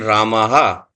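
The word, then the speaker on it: रामः: If it is, the A is there, then Ramaha. So that is a use add an her sound, because the visarg is basically the aspirated her sound, the short form of her sound.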